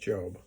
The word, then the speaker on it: Job: the book of Job j o spell like job but it's pronounced job they say like a I can't remember how